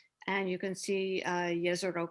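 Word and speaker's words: Jezero: you can see uh yezoro crater and that's how you say it yazero it's a croatian word that means lake and this image is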